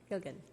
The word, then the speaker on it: Gilgen: Is it Gilgen or Gilgan? Gilgen? Gilgen. Thank you for hearing our city council.